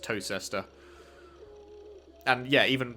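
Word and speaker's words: Towcester: england today that are spelt like toaster is spelt toe sester but it's pronounced toe sister and yeah even right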